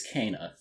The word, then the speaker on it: Kena: started all right i can do that so keenan bridge of spirits is about well actually the way you pronounce it is cana strangely enough and i haven't gotten used to